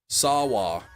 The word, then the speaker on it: Sawa: Just Sawa. Sawa? Devin saw a water bottle. He saw the water bottle. Devin Sawa.